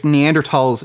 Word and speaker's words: Neanderthal: Wait, so if Neanderthals existed today, you'd be okay with killing Neanderthals? I think that we would likely not value the same way. It's Neanderthal, the H is silent.